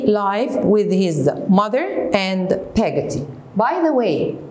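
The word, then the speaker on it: Peggotty: with his mother and pagaty by the way you can say pigatti and pagati both are correct in the names you know we can pronounce it the way whatever we want the third point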